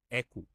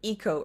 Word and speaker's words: Eco: a single currency called echo echo I pronounced it Eco earlier with my accent but it's Echo yeah I'll say it just like a short e the last question echas